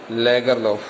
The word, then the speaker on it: Lagerlöf: Selma Lagerlöf, but its correct pronunciation must be Lagerlöf.